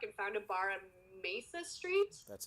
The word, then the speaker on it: Mesa: They left Riley's bag in his truck and found a bar on Mesa Street. That's how you pronounce Mesa.